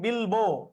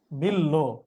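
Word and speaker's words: বিল্ব: আর এটা কি বিল্লো নাকি বিলবো? বিলবো বিলবো না, এটা হবে কি বিল্লো। বিল্লো। তাহলে এই তিনটা ভুল, আর এই ভস্মস্তব ঠিক আছে। বুঝছি? জি হ্যাঁ, এই যে বিল্লো রানী লিখতেছে, মোস্তাফিজ তো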